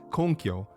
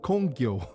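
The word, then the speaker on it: 根拠: He keeps asking for people's reason or basis, konkyo, but pronounces it kongyo.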